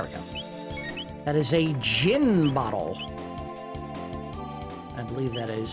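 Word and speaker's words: Djinn: go that is a gin bottle I believe that is supposed to be the shorten term for Genie gin which is usually spelled DJ i n n this might be a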